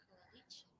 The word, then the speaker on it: coalition: Coalition. Very nice. Evaluate. Tremendous. Production. Coalition. Good. Yeah, you remember that with these words that end in shun, the stress is on the one before shun.